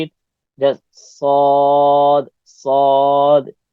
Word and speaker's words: ص: Just sod, sod. Your tongue will go high, rise up in your inside the mouth, and that's the way to pronounce sod.